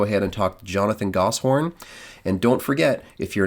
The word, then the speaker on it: Goshorn: like a Dutch area, they'll say ghost horn. So I don't even know if I'm actually pronouncing it correctly. So, I just go with Gosshorn and as long as